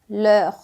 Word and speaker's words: les: eu digo le e quando eu digo le aqui embaixo no plural da mesma pronúncia como le por quê Porque você já aprendeu nos vídeos anteriores que o s não tem som então não faz diferença